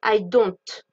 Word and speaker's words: don't: Attention à la prononciation, on prononce bien le T. D'accord ? Le T n'est pas d'une lettre muette. On ne dit pas I don't. Non, on dit I don't.